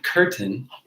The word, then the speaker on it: curtain: So if the syllable is on the, or if the accent is on the AIN, then AIN will say AIN. If the accent is on a different syllable, then the AIN says N.